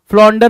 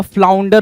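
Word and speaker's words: flounder: फॉरजो फॉरजो ठीक है देन फ्लोंडर नहीं होगा फ्लाउंडर होता है फ्लोंडर एफ एल ओ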